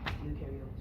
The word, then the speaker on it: eukaryote: You can remember that EU rhymes with true and new animals, plants, fungi, and viruses are examples of eukaryotes.